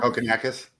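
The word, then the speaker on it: Kokkinakis: Kokonakis.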